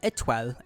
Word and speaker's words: étoile: Sona's weapon is pronounced étoile and is pronounced the same way as the French word for star.